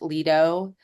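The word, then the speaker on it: Lido: you know it's great it's fantastic uh the Leo deck spelled l i d o but pronounced Leo that's the deck where the B pool is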